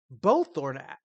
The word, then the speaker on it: Belthorn: Belthorn is literally Bell and Thorn, but with an E at the end.